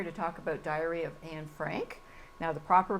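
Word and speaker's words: Anne Frank: today we're here to talk about Diary of an Frank now the proper pronunciation is an Frank yeah and you are an I am an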